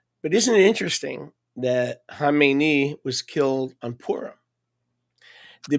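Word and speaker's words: Khamenei: and by the way, people can't pronounce it. They say Kmeni. That's not Kmeni. Kmeni is the guy that he succeeded. Okay? It's Hamemeni. They Americans see a K and they go Kmeni. That's not Kmeni.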